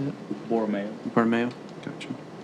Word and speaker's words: Borromeo: Borromeo.